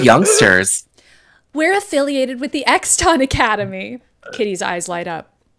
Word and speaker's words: Exton: I can't believe it's Exton, which, by the way, listeners, it's spelled E-X-T-O-N. It's not like X... hyphen ton. No, but I think the point is to make it be X something. Yeah, guess. X. It sounds like the Exxon Mobil company.